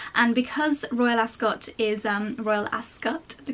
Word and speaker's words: Royal Ascot: And because Royal Ascot is, Royal Ascot, the correct pronunciation, is mostly outside, it's not really the kind of place where you go with a really full face of makeup.